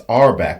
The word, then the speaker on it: Auerbach: eight straight NBA champions do I be saying arbach I'm pretty sure I'd be saying his I'm apologize look I always be mispronouncing people's names and I hate it it's arbach but I I just want to say arbach all the time have I been saying